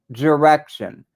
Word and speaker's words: Direxion: My favorite products are from Direction, and that's spelled DIREXION, Direction.